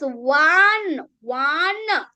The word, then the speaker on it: one: but one rupee note it's not on rupee note it's one one so the sound is o wn right w is a consonant sound w is not a vow will sound.